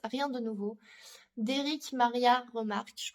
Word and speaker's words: Remarque: parle de àouest rien de nouveau d'Éric Maria Remarque je prononce à la française qui a été adapté